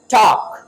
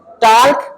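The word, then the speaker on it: talk: कुछ लोग एल को यहां पर साइलेंट नहीं करते जबकि यह साइलेंट है। टॉक टॉक टॉर्क नहीं बोलना।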